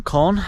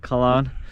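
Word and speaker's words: Köln: from none other than from germany from cone or as colin can't pronounce anything these days balloon cologne as us americans like to call it right cologne um but i just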